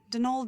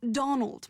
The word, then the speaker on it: Donal: Not Donald, mind you. There's no D at the end, so it's pronounced Donal. That's the way you're supposed to spell it, which is to say that's the way the Irish spell it.